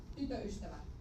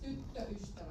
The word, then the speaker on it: tyttöystävä: Always remember to check whether there is one or two T's. It's not tytöystävä. It's tyttöystävä. You take it a little bit longer. Tyttöystävä.